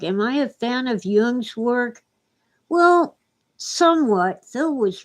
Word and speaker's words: Jung: And by the way, it's okay to call him Jung. We're Americans, but I studied German, so I pronounce it the way Germans would. Jung spoke German.